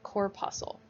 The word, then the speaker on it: corpuscle: of a weird word corpuscle you don't pronounce the c corpuscle so another name for